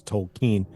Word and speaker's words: Tolkien: I am one of those hipsters who says Tolen um that's the that's the way you say that's the correct way to pronounce it yeah so see how cool I